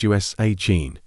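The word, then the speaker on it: Oisín: This one is pronounced Usain.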